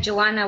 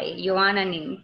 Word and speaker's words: Yoana: say your name again you wanna you wanna you are not like Joanna with the why you wanna oh yes welcome and